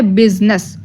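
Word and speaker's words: business: एन E double S बिजनेस हम लोग बिजनेस में आई को साइलेंट कर रहे हैं अगर हम लोग बिजनेस में से आई को साइलेंट ना करें तो यह तो वर्ड और तरीके से प्रोनाउंस किया जाएगा बट हम लोग आई को साइलेंट करके कैसे पढ़ रहे हैं बिजनेस आई प्रोनाउंस नहीं किया जा रहा जे का कोई साइलेंट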